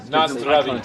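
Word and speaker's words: na zdraví: Nazdravi. Yeah, man. I've been spending a lot of time in Moravia. Nazdravi. Nazdravi. I got nothing Emphasis is always on the first syllable. Nazdravi.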